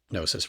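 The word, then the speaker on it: Gnosis: Hypnosis is a pretty big powerful tool that I use in my practice and nosis rhymes with hypnosis.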